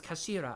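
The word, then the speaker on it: 頭: end of the hilt it's written as head in japanese but it's pronounced as kashira i believe mr zoe's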